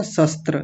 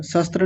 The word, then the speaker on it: शस्त्र: यहां पर आपने तालव्य शकार को दतीय सकार बनाया था। आपने बोला था शस्त्र शस्त्र नहीं शस्त्र ऐसा बोलेंगे। ठीक कीजिए। शस्त्र आप दोनों को तालव्य बना गए।